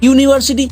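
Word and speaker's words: university: Vowel দিয়ে শুরু হওয়া শব্দের উচ্চারণ করার সময় যদি ইউ বা ওয়ার মতো উচ্চারণ চলে আসে তাহলে সেখানে চোখ বন্ধ করে এ বসিয়ে দেবে। যেমন ধরো বললাম এ ইউরোপিয়ান, ইউর উচ্চারণ আসছে না, European. ইউনিভার্সিটি, এ ইউনিভার্সিটি, এন ইউনিভার্সিটি বললে কিন্তু ভুল হয়ে যাবে।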